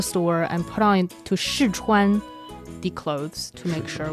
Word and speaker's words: 试穿: 试穿, 试 is the fourth tone, 穿 is the first tone.